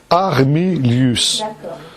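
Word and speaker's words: Armilus: Armilius, comme ça se prononce. Armilius.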